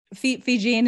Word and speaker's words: Fijian: Is that how you say it? Fijian. Fijian is how you say it, but even then I'm not even Fijian.